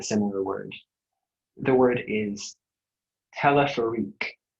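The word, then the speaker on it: téléphérique: The word is telephorique.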